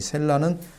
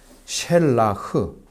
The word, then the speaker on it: 셸라흐: 이 셀라는 셸라흐, 여의를 써가지고 셸라흐 이렇게 읽습니다.